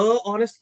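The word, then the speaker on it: honest: इ एन ऑनेस्ट person लेकिन ऑनेस्ट की spelling क्या होती है अ एच ओ एन ई एस टी तो एज से शुरू हुआ लेकिन फिर भी आपने क्या बोला ही इज एन ऑनेस्ट person क्योंकि जो पहला साउंड है स्पेलिंग से इंग्लिश ग्रामर नहीं चलता है आपको साउंड पे फोकस करना है तो जो पहला साउंड है वो कौन सा है ऑ सो ओ एक वावल साउंड है जिसकी वजह से आपको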